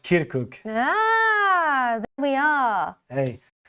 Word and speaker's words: Kirkuk: I messed up the pronunciation yes and it's pronounced kirkuk ah there we are hey here to provide